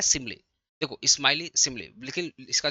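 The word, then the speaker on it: simile: बहुत इसको स्माइली पढ़ते हैं बस सिमली होगा।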